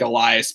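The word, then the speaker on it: Elías: backup catcher is, well, it's spelled like Elias, but everybody else pronounces it Elias Diaz.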